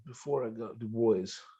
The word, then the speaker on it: Dubois: First solve was in Dubois before I got Du Bois. I think it's how they pronounce it, right? Du Bois.